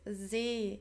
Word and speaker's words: See: So make sure the pronunciation is not that like the English sea, it's See in German, okay, See.